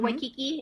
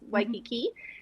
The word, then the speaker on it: Waikiki: Well, some people say like Waikiki. Not Waikiki, it's Waikiki.